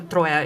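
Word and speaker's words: Троя: Yeah, you Troya the Troya is how we would say it.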